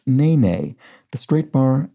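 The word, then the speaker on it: nēnē: The bird, an occasional inhabitant of the New York Times crossword spelled N-E-N-E, has the straight bar accent above each E and is pronounced nene.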